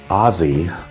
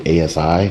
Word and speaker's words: Aussie: Berlin edit and so when I say Aussie Americans say ASI which I've been saying ASI all the way up until like yesterday and I've been corrected so Americans let's get her together it's Aussie Berlin not ASI Berlin so Aussie Berlin